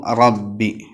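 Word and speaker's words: ربِّ: മേലെ മുൻപല്ലിന്റെ ഊനിൽ തട്ടിക്കണം അപ്പൊ റബ്ബി തഫ്ഹീം ആക്കണം അതോടൊപ്പം തന്നെ ശ്രദ്ധിക്കേണ്ട ഒരു കാര്യം അത് വാവിന്റെ ചുയയിലേക്ക് വരരുത് വാവിന്റെ ഒരു ടച്ചിങ് അതിനുണ്ടാവാൻ പാടില്ല റബ്ബി റബ്ബി പിന്നെ ബാഹ് പറയുന്ന സമയത്ത് ബാല് കാറ്റ് കൊടുക്കാൻ പാടില്ല റബ്ബി റബ്ബിൽ ആലമീൻ ആ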